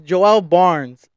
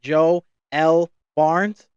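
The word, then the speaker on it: Joe L. Barnes: Now mind you, when I first saw his name, I was reading it Joe L Barnes, like that's how I was reading it, but that's how it's spelled. It's Joe, middle initial L dot Barnes, right? That's how it's spelled. But I realized that he kind of like put a play on words and made his name Joel Barnes, because that's how I hear it.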